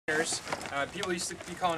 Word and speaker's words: carabiners: They're actually spelled biners, so at the end, carabiners, but pronounced beaners at the end.